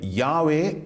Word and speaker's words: யாவே: கிறிஸ்தவர்கள் ஜெகோவா என்று மொழிபெயர்க்கின்றார்கள் ஆனால் எபிரேய மொழியை நீங்கள் ஆராய்ந்து பார்த்தீர்கள் என்று சொன்னால் அதை யாவே என்று உச்சரிக்க வேண்டும் என்பதை நாம் அறிந்து கொள்வோம் இப்பொழுது